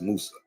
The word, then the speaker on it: Musa: name Moses was pronounced Musa come on pronounce Musa how it's still pronounced today in Arabic or in the Quran I'm not here to